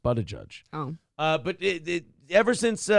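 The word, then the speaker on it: Buttigieg: over there's been a lot of plane fuckups booty judge well that's his dream job yeah his name is pronounced but a judge oh uh but ever since mayor Pete took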